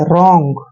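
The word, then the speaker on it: wrong: पे W silent रहेगा आर से पहले अगर डब्लू आता है तो डब्लू वहां पर साइलेंट हो जाता है आर को हमने र पढ़ना है ओ एन जी का उच्चारण ओंग करना है रंग ठीक है ना रंग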